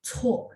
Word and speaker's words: 错: C-U-O, terus karena dia C, bacanya ada angin ya. 错 ada 4.